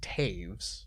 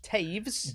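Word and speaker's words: Toews: first of all misspelled it is pronounced taves taves don't i'm not going to blame you for that one because t-o-e-w-s probably shouldn't be pronounced taves all right but it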